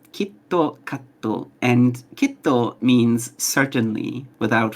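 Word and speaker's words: キットカット: Kit Kat in Japanese is pronounced kitto katto, and kitto means certainly, without fail.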